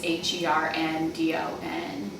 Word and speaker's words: Herndon: and then Herndon is HERNDON. Like Henry Dunn, but Herndon.